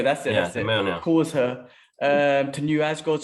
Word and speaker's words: Mjolnir: It's a hard one that we still don't know how to pronounce that, which is Mjolnir. Mjolnir, that's it. Mjolnir.